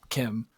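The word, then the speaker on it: Kh'ymm: Probably people are yelling like it's I can't pronounce that. Kim. Oh, it is Kim. It's Khymm. But I don't know if they pronounce it like that. Wait, Kuhymm?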